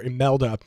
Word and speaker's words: Imelda: It starts with an I, but it's pronounced, for at least from what I've been able to gather, Imelda will be the name of this storm.